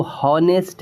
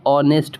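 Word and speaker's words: honest: हम इसको हनेस्ट नहीं पढ़ेंगे। हम इसे ऑनेस्ट पढ़ेंगे।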